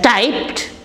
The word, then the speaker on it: typed: hear this news shocked then typed he has typed five letters t y p e d is pronounced as typed then blocked blocked the road